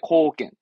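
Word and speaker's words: 貢献: 그래서 우리말로는 공물 쓴 건데 발음을 이제 미츠기모노 합니다. 미츠기모노. 하지만 시험적으로는 공헌 하나면 됩니다. 공헌의 코겐.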